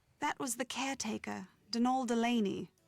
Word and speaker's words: Donal: That was the caretaker, Denol Delaney, not Donald, mind you. There's no D at the end, so it's pronounced Dol.